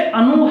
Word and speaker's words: अनु: आप दोनों का जब उच्चारण सही से करेंगे तो आपको अर्थ क्लियर हो रहा होगा। जैसे अनु है, अनुचर के अर्थ में होता है, अनु